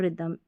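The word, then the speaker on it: rhythm: में आते हैं ना तो यहाँ पर H साइलेंट होता है, ठीक है, राइम और रिदम।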